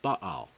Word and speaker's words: Baal: with the prophets of Baal or as the name is often pronounced in English ba the goal of the